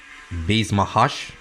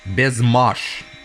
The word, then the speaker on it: Baise Ma Hache: yeah is this one a lot of people say it like uh Bass mahash when I tried to Google Translate it and listen to the actual you know the sound it says best best Mash so if that's right